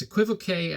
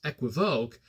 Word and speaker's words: equivoque: K on the end I say it as equivoque as in it sounds classy this way right